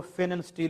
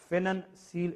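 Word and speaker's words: Pfannenstiel: तो C section की जो इंसिजन है उसको फेनन स्टील इंसिजन कहते हैं। इसमें ये पी साइलेंट है, एफ से स्टार्ट होती है, फेनन सील इंसिजन इसको हम कहते हैं।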